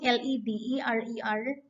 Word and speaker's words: Lederer: read the poem by richard lederer as you pronounce l-e-d-e-r-e-r richard lederer which is entitled english is a